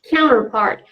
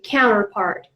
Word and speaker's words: counterpart: Counterpart. And the pronunciation, Americans mostly pronounce it this way, counterpart. But if you prefer to pronounce the T sound, counterpart, that's absolutely okay. Counterpart or counterpart.